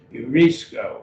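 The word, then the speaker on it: εὑρίσκω: dipped on you but it has that rough breathing mark q hue put a little h sound on the beginning of urisco urisco and so it's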